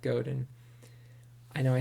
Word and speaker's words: Godin: seth rogen seth godin or my rhymes with seth rogen but it's seth goden i know i said